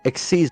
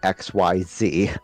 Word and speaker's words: Xyz: Exceed monsters. They are pronounced like exceed, not XYZ.